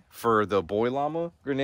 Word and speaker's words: llama: Well, first of all, llamas, the proper way to say llama is llama, because it originated in Southern America. Wait, what's she doing? And they called them llamas, and in Spanish, the two L's make a Y sound, and llama means call in Spanish.